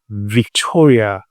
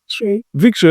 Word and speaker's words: Victory: So in the studio I go Victoria M. Did I pronounce the right word? Victory.